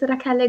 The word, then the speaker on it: Rachele: So it's supposed to be pronounced Rachele? Rachele. I've been getting it wrong the whole time. Yes. Oh, it's fine. I'm used to it. So it's Rachele. Is that right? Rachele. Rachele. Yes, Rachele. Oh, that's really Rachele.